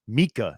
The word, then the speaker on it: Miaka: scribe and mystical writer named Miaka, pronounced Mika in English, for the high priest of Atlantis.